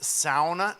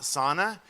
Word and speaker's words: sauna: the way when brad says sauna not sauna it's because his hair really is that blonde I mean Anand died that's legit Finnish hair and so he has every right in the world to say it like a fin wood so which I